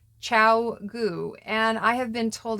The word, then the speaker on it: Chiao Goo: of you who have been wondering it is pronounced Chow goo and I have been told it translates approximately